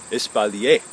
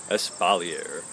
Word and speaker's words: espalier: Not some weird R thing on the end like it's French, because it is. If you want to, you can use the pretentious French pronunciation Espalier. Or you can just say Espalier. That's also listed in the dictionary as the correct pronunciation in English.